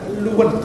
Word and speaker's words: Luton: Luton Airport. Luton bacanya Luwen.